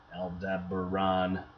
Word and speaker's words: Aldebaran: way and kind of get to Aldebaran el deber Ron as well as to